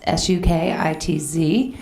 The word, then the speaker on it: Sukitz: I launched Sukitz, S-U-K-I-T-Z. We didn't know how to pronounce it.